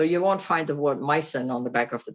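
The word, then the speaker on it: Meissen: discovered that it was a mycin figurine so mycen of course is a very um expensive brand especially the older pieces can you spell that yeah m i e s s e n mycen so is that german yes it's a german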